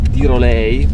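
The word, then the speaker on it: Dyrhólaey: Una delle cose più belle nei pressi di Vik è un promontorio che dovrebbe pronunciarsi Tirolei.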